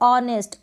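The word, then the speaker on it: honest: तीनों स्पेलिंग्स में क्या है, H साइलेंट है और H के बाद O आपको दिखाई दे रहा है, तो इस तरीके से भी आप अंदाज़ा लगा सकते हैं।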